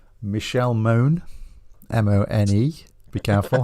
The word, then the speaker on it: Mone: you pronouncing that right sure it's not Mony it's Moon m-o-n-e moan right okay but I put